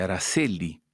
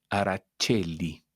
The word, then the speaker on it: Aracelli: voy a decir que en castellano se dice Araceli, pero en italiano se dice Aracelli.